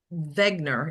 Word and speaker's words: Wegener: his name was Paul Wegener, if you actually pronounce it German like. Wegener, yes.